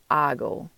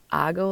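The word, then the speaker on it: hago: it's going to be H AG o which is pronounced ah go ah go la tarea now you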